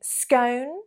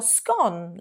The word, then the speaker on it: scone: Would you say scone, like home, or scone, like gone?